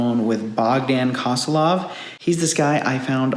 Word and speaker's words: Bogdan Kosilov: Today we're with Bogdan Kosilov, I believe is how you say your name, right?